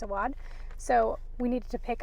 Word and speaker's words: Awad: I've always said Awad, but I think it's Awad.